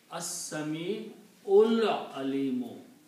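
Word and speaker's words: السميع العليم: And when you read them together, you will combine this Ain with the Lam. So you pronounce As-Sami'ul Alimu.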